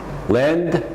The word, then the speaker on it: lend: Pronunciation, don't forget the D. It's just a little bit at the end, but it's got to be there. Lend, send, trend, pending, vendor.